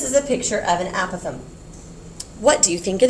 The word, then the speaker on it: apothem: the correct pronunciation is apothem um yeah it sounds like a possum doesn't it the animal that sleeps